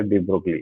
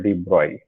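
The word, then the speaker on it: de Broglie: उसका पूरा नाम था लुइस विक्टर डी ब्रोगली, ठीक है। इसका प्रोनाउंसिएशन होता है डी ब्रॉय, ठीक है।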